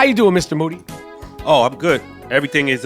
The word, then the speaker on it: Moody: over their asses Moody last name rhymes with Duty the three-time podcast co-host